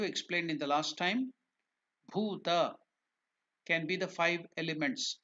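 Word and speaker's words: भूत: The pronunciation, as I told you, I explained you, bhuta. It's not bhuta. Bu, the word ba or bu is alpa prana. You use less energy. The breath energy to pronounce bu is less. But while you pronounce the same bu as bhu, you are using a little more energy.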